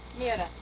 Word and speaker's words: Mira: mea from Finland she say her name again Mira M i r a they yeah and Ma's